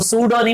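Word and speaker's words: pseudo: ए solid कि मैं यहां पर पी साइलेंट है हम इसको सूडानी बोलेंगे प्रोडक्ट साले इसके बाद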